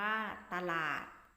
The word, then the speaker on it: ตลาด: อยู่ ตลาด ที่ ตลาด มี ตอน นำ สะกด ว่า ตลาด อ่าน ว่า ตลาด เอา องุ่น เอา องุ่น